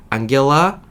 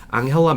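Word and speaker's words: Angela: 이거 여러분께 발음해 드리려고 독일어 원 발음을 봤는데 못 따라하겠더라고요. 앙겔라 메르켈 뭐 이렇게 해요.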